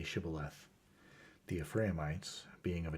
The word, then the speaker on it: Shibboleth: to let none pass who could not say Shibboleth. The Ephraimites, being of a different tribe, could not frame to pronounce the word right, but called it Sibboleth, which proved them enemies and cost them their